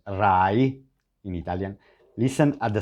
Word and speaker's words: Rai: main TV channel called Rai in Italian. Listen at the sound of the R, because in Italian R, now Rai, Rai, R-A-I, we say Rai, not Ray, not Rai, Rai, Rai, Rai.